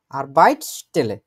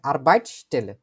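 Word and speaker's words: Arbeitsstelle: বসে যাবে আরবা টেলে আরবাইট স্টেলে ঠিক আছে আরবাইট শব্দটার সাথেও এস উচ্চারণ করতে হবে একসাথে আরবাইট স্টেলে এগুলো দরকার হলে আমরা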